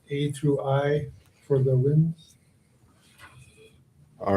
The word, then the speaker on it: Nguyen: All right, It's pronounced win.